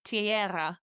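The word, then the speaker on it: tierra: So I'm doing the e i t and the era with the e r a tiara.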